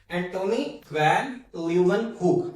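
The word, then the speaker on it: Antonie van Leeuwenhoek: मैं दोबारा रिपीट कर रहा हूं। एंटोनी वैन ल्यू वन हुक। अगर आपको प्रोनाउंस नहीं करना आ रहा तो लू व्हेन हु आप इसको सेलेबल्स में तोड़ लें।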